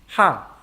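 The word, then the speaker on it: ห้า: a little pun yeah in thai thai language the number five is pronounced ha so when doing text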